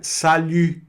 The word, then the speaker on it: salut: Então fica salu. Salut. Salu. Tá vendo? Esse biquinho vai aparecer, não tem jeito. Tá certo? Então, a boca do U e o som de I, tá certo? Essa junção, essa essa junção fica simultânea e acaba saindo esse som de u, né?